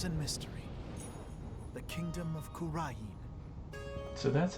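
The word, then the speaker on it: Kurain: of spirit mediums and mystery the kingdom of kurin so that's how you pronounce that but now the Flames of Revolution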